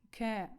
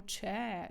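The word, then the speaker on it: che: просто всюди ракаці і ми дуже часто ось це читаємо че че це не читається че забудьмо за англійську і давайте з вами зараз запам'ятаємо будь ласка три букви чя кае читається як ке ке як ми з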